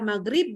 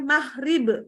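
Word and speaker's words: مغرب: lainnya Mungkin gitu ya bilang maghrib gitu ya kan harusnya gitu ya tapi kita bilangnya magrib nah ini berarti logonya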